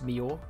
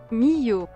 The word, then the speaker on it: Millau: time lapse so I asked the TTS bot in my Discord to pronounce Mio and this is how it's pronounced me you at least according to the Discord DS bot by the way guys